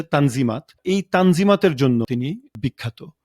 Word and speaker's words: Tanzimat: তিনি সেই রিফর্মের নাম আরবি শব্দ তানজিমাত যেটার তুর্ক উচ্চারণ হচ্ছে তানজিমাত এই তানজিমাতের জন্য তিনি